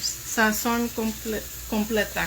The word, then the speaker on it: Sazón completa: How do you say it in Spanish? Sazón completa.